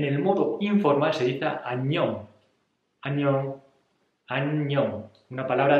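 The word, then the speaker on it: 안녕: en coreano en el modo informal se dice anión año año año una palabra de dos sílabas muy fácil y es para decir en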